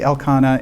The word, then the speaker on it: Elkanah: Okay, how do you pronounce his name? So that Elkanah? I say Elkanah and Hannah.